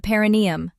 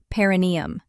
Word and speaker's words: perineum: It's in a slightly hidden, often neglected area, the paranium. Often mispronounced paranneeium.